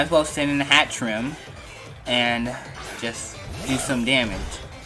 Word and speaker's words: Hatterene: hat treat a hat ramp hat rim that's hat trim that's how you pronounce the atrium it has to move side